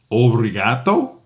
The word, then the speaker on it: obrigado: And the last word of the day that we learned was thank you, which was obriato.